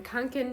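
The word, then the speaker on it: Kånken: did put the $15 into this FAL Raven kin bag is how you say it um I've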